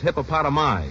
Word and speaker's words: hippopotami: The plural is hippopotami.